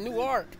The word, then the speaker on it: Newark: Like, the proper way is Newark.